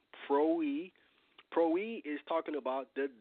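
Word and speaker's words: πρωΐ: This word is P-R-W-I, and it's pronounced pro-e.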